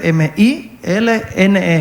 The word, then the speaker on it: Milne: El apellido se escribe M-I-L-N-E, Milne.